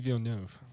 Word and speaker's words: Villeneuve: Denis Villeneuve.